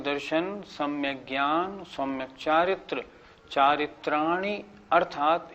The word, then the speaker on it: चारित्राणि: कुछ लोग कैसे बोलते हैं, सम्यक दर्शन ज्ञान चारित्राणी मोक्ष मार्ग, ये गलत हो गया।